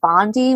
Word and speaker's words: Bondi: I'm a little confused with the Attorney General of Florida, Pam Bondi. Is that right? I do believe that's the correct And pronunciation.